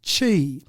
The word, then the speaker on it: Qi: they introduced Qi now Qi is pronounced Chi oh sorry I no